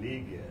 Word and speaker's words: Legette: I thought he said Legette. Oh, yeah, that's how I tell everybody just to hold it. Make sure you say it with two E's.